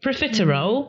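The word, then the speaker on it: profiterole: Do you pronounce a lot of them? Not sure. But what is it? Proffer roll.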